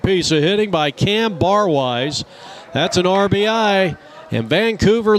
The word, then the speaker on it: Barwise: to cam bar wise what a name cam bar wise it's spelled the way it sounds b-a-r-w-i-s-e two on first